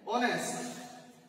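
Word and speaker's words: honest: দিয়ে গঠিত হয়েছে এস দিয়ে কিন্তু দেখো এস উচ্চারণ না হয়ে এখানে অনেস্ট অনেস্ট ভাওয়েলের মত উচ্চারিত হচ্ছে এজন্য তারাই বসে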